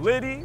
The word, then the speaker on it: Liddy: Liddy, which rhymes with get gritty.